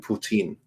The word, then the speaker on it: Putin: I'll even throw in Putin. Or Putan. I'm not quite sure how No, I it's think you said it pronounced.